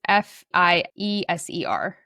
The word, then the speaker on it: Fieser: I'm not even sure if I'm saying it right. It's Fieser.